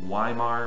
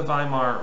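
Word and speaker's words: Weimar: I know it says why Mar but it's German it's pronounced with a V it's by mine in the by Marr Republic's Constitution there's this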